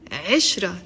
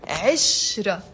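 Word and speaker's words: عِشرة: what does it mean the word ashra not ashra there is a Kasra under the eye it's Ezra ashra ashra means uh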